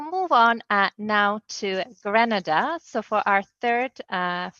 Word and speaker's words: Grenada: if I do not correct the pronunciation of the country's name is Grenada thank you all right